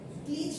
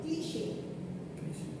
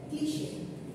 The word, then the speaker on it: cliché: যেমন দেখেন, এটার উচ্চারণটা আপনার হবে কি বলেন তো, ওয়ার্ডটা দেখে মনে হচ্ছে ক্লিচ বা এরকম কিছু মনে হচ্ছে। এটার প্রনাউন্সিয়েশনটা হবে ক্লিশে। হ্যাঁ, এটার প্রনাউন্সিয়েশনটা হবে ক্লিশে।